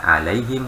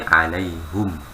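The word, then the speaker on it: عليهم: Kalau untuk yang kita riwayat Hafiz emang bacanya alaihim Pak ya. Tapi kalau riwayat Hamzah dia bukan alaihim tapi alaihum. Iya. Dia tetap hum ya, dia tidak majrur bi ala ya, tetap ya. Ya, dia tetap dhammah bacanya.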